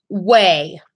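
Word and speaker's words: OUAI: Way. It's spelled O-U-A-I.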